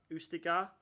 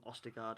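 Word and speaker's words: Østigård: of the game but i think he's pronounced ustigar right but let's just call him ostergaard or leo yeah i mean i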